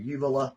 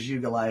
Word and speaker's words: uvula: Y uvula. I thought it was ugulay and I thought or ugly. I thought that's a the little banjo thing. That ain't right.